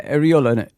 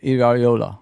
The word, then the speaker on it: Iraola: Is it How do you say Areola? Sorry. Oh, yeah. Iola.